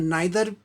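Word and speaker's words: neither: इसका उच्चारण नाइदर होता है और नीदर दोनों होता है। ज़्यादातर अमेरिकन्स नीदर का प्रयोग करते हैं और ब्रिटिशर्स नाइदर का प्रयोग करते हैं। दोनों ठीक है, जो भी आप करें।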